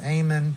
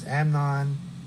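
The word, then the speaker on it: Amnon: It's not Ammon, it's Amnan, who was the son of Ahen of Jezrael.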